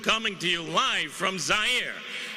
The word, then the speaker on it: Zaire: Howard Cosell coming to you live from Zaire. Some would pronounce it Zaire. They're wrong.